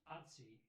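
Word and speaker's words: Ötzi: oci but it's pronounced otsi it's like mozart is spelled without a t but you pronounce it apparently that's something that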